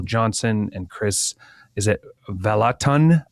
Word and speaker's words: Vallotton: and Chris, is it Vallotton? How do you say his last name? Vallotton. It's a soft R.